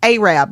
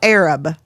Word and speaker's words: Arab: He married a girl from Arab, Alabama, and Arab is spelled Arab, but it is pronounced Arab, not Arab.